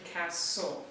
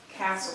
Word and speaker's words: Castle: name with me castle it's actually cast soul it sounds like there's a t but just like the castle like the building the castle it's a silent t so it's castle say that with me